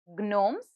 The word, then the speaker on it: gnomes: missing in it yes the word is gnomes and the silent letter in it is g now like this you